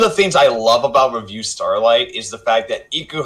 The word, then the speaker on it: Revue Starlight: starlight and it's amazing which is it's it's pronounced review starlight which I found out the hard way it's not review starlight even though the Spelling's weird anyway Rafi I